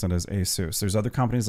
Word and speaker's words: ASUS: I've always pronounced it as ASUS.